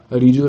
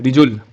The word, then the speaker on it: Rijul: Riju 18. I'm thinking of doing DSA from Love Bubber. Is it good, by the way? I'm Rijul, not Riju. Okay, Rijul. Sorry for incorrect pronunciation.